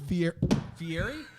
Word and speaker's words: Fieri: uh robin guy fiera how do you say his name fieri i said it right guy guy you know